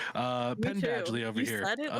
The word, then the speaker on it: Penn Badgley: by the U star Ben Badgley um I think that's how you say his name right Ben Ben badgely Ben 10 like a pen yeah like oh okay